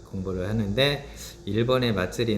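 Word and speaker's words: まつり: 학습을 해 보겟습니다 자 축제라는 일본어는 마츠리 라고 발음을 하고요 한국어로는 마스 리라고 되는데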